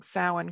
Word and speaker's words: Samhain: And points to Jonny Enoch, points for pronouncing Samhain correctly.